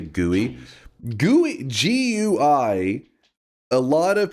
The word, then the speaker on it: GUI: That's why I call it GUI. It wasn't like I made it up. It was how that's how I heard it. That is how it's said.